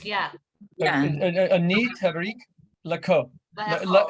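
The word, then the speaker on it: לאכול: Le'echol. Le'eko. Le'eko. Le'ekol. Yeah, it's 3 syllables. Le'echol. Le'eko. Le'eko. Not ko. Is it ho rather than ko?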